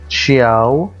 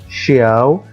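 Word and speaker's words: ciao: تشاو، تشاو، أو نطق تاني ليها تشياو أو شياو، لأن الكلمة أصلا كلمة إيطالية مش كلمة فرنسية، فلها نطق مختلف عن اللغة الفرنسية.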